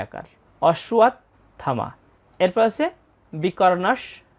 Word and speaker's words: অশ্বত্থামা: ত যোগথ এখানে তাহলে ত এর উচ্চারণটা অর্ধেক হবে। অসুয়াত। এর থ আকার ম আকার। অসুয়াত থামা। এরপর বিকর্ণস চ। আমরা দ্বিতীয় লাইনে প্রথম চরণটার উচ্চারণ পেয়ে গেলাম। অসুয়াত থামা বিকর্ণস চ।